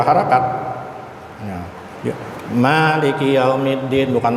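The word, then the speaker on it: مالك يوم الدين: Cara membacanya gimana? Ya tadi itu 2 harakat. Ya. Maliki yaumiddin, bukan maliki yaumiddin, maliki yaumiddin.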